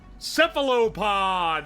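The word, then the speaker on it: cephalopod: Sephilopod, that's how you say it.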